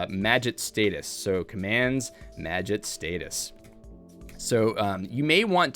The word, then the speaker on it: Magit: the the magic package as you notice i'm pronouncing it correctly now the magit package not maggot it's magic as people have told me repeatedly uh we are going